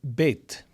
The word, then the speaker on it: bet: Next, we have bet. And this makes two sounds. B as in boy and V or V as in very.